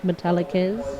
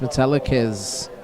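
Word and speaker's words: Metallicaz: is to the line that's pronounced metalz it is pronounced metalz I want to say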